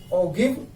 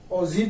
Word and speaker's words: ogive: अब स्टूडेंट ये हो गया, नाम इसका है मोर देन ऑगिव, OGIVE, ऑगिव बोलते हैं इसे, ओजिव भी बोल देते हैं, प्रोनाउंसिएशन के चक्कर में नहीं पड़ना।